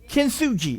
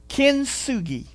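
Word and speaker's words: kintsugi: Kenuji is how it's pronounced. It's the Japanese art of healing. And what happens is when one of these vessels is broken, kinsugi is how it's pronounced.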